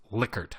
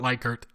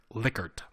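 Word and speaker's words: Likert: questions is called licker scale and yes it's pronounced licker not lier licker so Dr licker who's still alive by the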